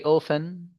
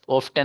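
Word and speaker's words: often: अगला एग्जाम्पल है, डू यू गो to market very ओफन। डू यू गो to market very ओफन, ये T silent है भाई साहब, ऑफ्टन मत पढ़ना।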